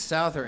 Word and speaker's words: Souther: was a beautiful introduction even if you didn't pronounce my name right it's Souther and I am from